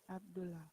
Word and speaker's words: Abdullah: In double consonant rule, we pronounce only one. So it is Abdullah, not Abdullah anymore. Abdullah.